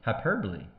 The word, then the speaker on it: hyperbole: Hyperbole. Hyperbol is how you spell it. Hyperbole is how you say it.